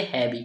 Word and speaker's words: heavy: HEAVY, इसे हम क्या पढ़ेंगे, हैवी। कैसे पढ़ते हैं, सबसे पहले एच लेटर दिख रहा है उससे पढ़ेंगे हा। क्या पढ़ेंगे, हा पढ़ेगा, ठीक है। ई दिख रहा है उससे ए की मात्रा लगाएंगे। और यहाँ पर ए लेटर है उस वो हमारा क्या रहेगा, साइलेंट रहेगा, ठीक है।